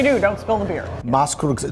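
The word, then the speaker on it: Maßkrugstemmen: Well, how do you pronounce it? Or Maskrugstemmen.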